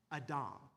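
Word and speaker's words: אָדָם: If you know Hebrew, the word man is pronounced Adam or literally Adam, right?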